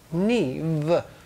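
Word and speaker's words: Niamh: little irish last name although i think she pronounced it neve but really it was clearly written on the card n-i-a-n-h i do wish the irish would learn to pronounce the english alphabet so gin it's what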